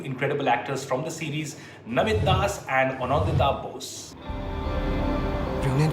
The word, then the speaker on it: Namit Das: And of course, not Nomit Das, but Namit Das.